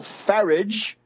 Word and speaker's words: Farage: And we know that Grillo has sealed an alliance with Nigel Farage, rhymes with wreckage or garbage.